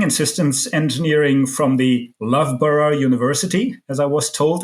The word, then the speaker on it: Loughborough: He holds a master in engineering and systems engineering from the Loughborough University, as I was told it's pronounced.